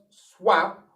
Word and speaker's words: swap: now what about this swap okay does that rule still apply of course it does that word is not swap but swap did you see swap